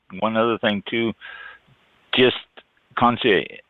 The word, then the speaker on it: Concierge: And one other thing too, just Concierge. It's CONCIERGE. So it's that fancy French where they don't pronounce some of the letters.